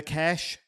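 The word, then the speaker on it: Kesh: Search the cash jig. The cash is spelled ke, right?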